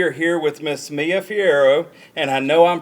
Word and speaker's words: Fierro: Today we are here with Miss Mia Fierro, and I know I'm pronouncing that wrong, Mia, so how do we say your last name? It's pronounced Fierro.